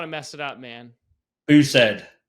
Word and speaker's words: Bousaid: I don't want to mess it up man booed booed okay yeah you'll notice Mo has a thick